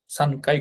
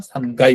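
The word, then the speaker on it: 三階: করা আরেকটা কারণ হচ্ছে তিনতলা যখন বলি তখন সান কাই কথাটা বলি না সানগাই কথাটা বলি হ্যা যদিও কাই কথাটা ইউজ করে অনেক জায়গায় কিন্তু সঠিক হচ্ছে গাই হ্যা সান গাই বলব আর সাধারণত সকাই বলকাই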